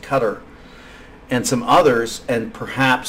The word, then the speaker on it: Qatar: think probably now Qatar qadar it's pronounced Qatar and some others and